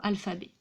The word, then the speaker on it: alphabet: Le son de la deuxième syllabe de ce mot à 3 syllabes, al, fa, b. La deuxième syllabe, la syllabe fa, eh bien le son fe s'écrit de nouveau PH.